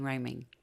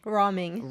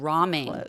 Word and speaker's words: Rahming: I'd like to introduce you to my next guest, Rhyming. Did I pronounce that correctly? Roming. Roming. Like top ramen, but ramen.